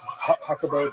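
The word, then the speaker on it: Jacobo: It's it's Grimberg Zilber, but it's Hakabo.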